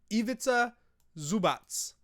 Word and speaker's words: Ivica Zubac: Show me how to pronounce it. Ivica Zubac.